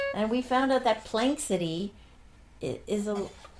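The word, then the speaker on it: Planxty: And we found out that Plank City is a We don't know if we're pronouncing it right, but it looks like that. P L A N X T Y is a term that means in honor of like right.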